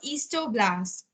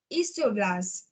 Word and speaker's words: osteoblast: You have to pronounce this thing as osteoblast. The last paragraph you can see made up of bone cells and osteoblasts. So it is not osteoblast. You don't have to pronounce like this. It is osteoblast.